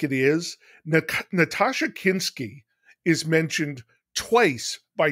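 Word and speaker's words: Nastassja: Natasha Kinski is mentioned twice by two different characters as being very sexy in this book.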